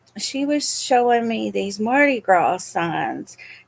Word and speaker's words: Mardi Gras: And I said, "Mama," I said, "that S is silent. It's Mardi Gras."